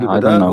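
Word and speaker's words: البداء: You mean al-bada or al-bala? What? Sorry. I'm trying to understand what you are saying. Al-bala or al-bada? Well, bada. Al-bada. With dal, yes. Al-bada.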